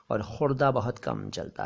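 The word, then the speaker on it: ख़ुर्दा: असल में ये खुदरा नहीं है, ये खुर्दा है जी। खुर्द से बना हुआ शब्द खुर्दा, लेकिन अब खुदरा ज़्यादा चलता है और खुर्दा बहुत कम चलता है।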